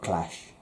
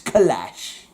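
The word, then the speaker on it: K'lash: guess um enter clash it's not clash it's clash because there's a little uh apostrophe clash i'm down with not clash yeah you gotta pronounce it right otherwise these aliens get really annoyed it's like my name is not clash it's kalash do you mind has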